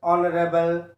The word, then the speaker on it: honorable: In the words like R, H is silent. R, honest, honorable.